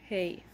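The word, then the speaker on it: ה: Hey. The way we pronounce this is H. H.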